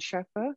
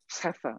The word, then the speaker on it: Scheffer: I'm presenting the work that all that work is the work of Carpenter and Scheffer, who were referenced in there. Heffer, I think you're supposed to pronounce it, and their colleagues.